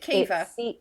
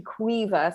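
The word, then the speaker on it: Caoimhe: Is it Kiva? Yes. It's the only Irish name I know that begins with a C. Someone's done their research. It's actually Quiva, so slightly different pronunciation to how you're saying it.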